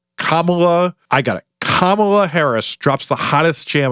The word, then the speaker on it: Kamala: those names that no one knows how to pronounce like god forbid cabal kamela kamala i got it kamala harris drops the hottest jam of summer 2021